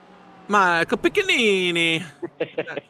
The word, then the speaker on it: Michel Pini: guy in 11's name it's hard to pronounce Michel Pini that's how you pronounce it he's been here I